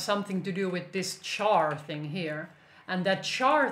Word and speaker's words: char: to do with this char thing here and that char thing actually would be better pronounced as car because it comes from character so basically a string